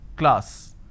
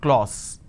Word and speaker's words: class: sound are another example the word is class and the pronunciation is ah sir class this is how the pronunciation is but people make a mistake they say la or so instead of saying class they end up pronouncing this as Glaus okay now why does